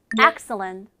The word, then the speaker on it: excellent: 그러면 excellent가 아니라 excellent. Excellent. 읽어볼까요? Excellent. excellent. 발음 정말 좋죠. 그래서 T 발음을 조금 줄여주면 돼요.